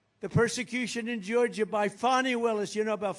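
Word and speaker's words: Fani: persecution in Georgia by fonnie Willis you know about fonny Willis right has anybody fonnie it's pronounced Fon F A ni I that's Fanny but she likes it funny when she became the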